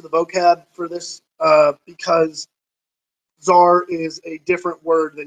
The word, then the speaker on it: tsar: keep that in mind the tsar z TZ AR the t is kind of silent giving the Czar Bazar is the Russian